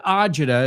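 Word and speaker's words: agita: She goes, "I got such a word ajida is an Italian American kind of word that we've adopted." The real word is acita. I don't know how to say it. It's acid as you said, Elena, but uh ajida is how the Americans have heard that word and incorporated it into the language.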